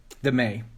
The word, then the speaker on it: MEI: Hatch first created the May, right? The MEI, when he first created the May, that's how you pronounce it.